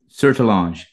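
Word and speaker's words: Sertillanges: Sertelange.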